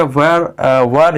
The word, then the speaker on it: were: अब देखिए ये तो बन गया टुडे वर यू, ठीक है। इसको देखिए ऐसे तो वेयर भी पढ़ते हैं कुछ लोग, लेकिन आप शुद्ध प्रोनाउंसिएशन यदि करेंगे WERE का तो इसको वर ही बोला जाता है, ठीक है।